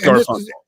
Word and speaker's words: Garfunkel: Yes, it's pronounced Garfunkel.